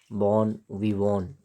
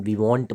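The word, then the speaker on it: bon vivant: बॉन विवॉन, VANT, इसको बॉन विवॉन पढ़ेंगे। भले टी है तो आप टी देख करके विवॉन, विवॉन्ट मत पढ़ना, इसको बॉन विवॉन पढ़ेंगे।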